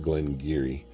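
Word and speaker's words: Glen Garioch: Looks like Glen Garryosh, but it's pronounced Glen Geary.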